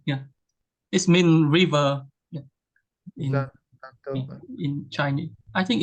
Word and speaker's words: Giang: But when you pronounce Zan, that's the first word. TR. Yeah, my first name and is my last name. That's pronounced as Zan. Okay. Yeah, Giang. Yeah. It means river. Yeah. Zan.